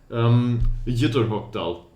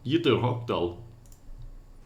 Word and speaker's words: Ytterhogdal: Ytterhogdal.